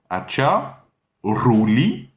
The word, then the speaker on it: Acharuli: Ensuite c'est Ruli, donc la R espagnole, la R, le R roulé. Acha, Ruli, en un seul mot, Acharuli.